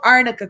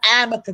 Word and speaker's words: arnica: was using emma supreme it's called arnica cream not amica creek you